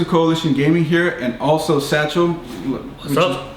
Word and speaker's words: Sachil: Hey everyone, Crystal Coalition Gaming here, and also Sachil. What's up? Pronounced like the bag. Yes, apparently. Sachil like a bag.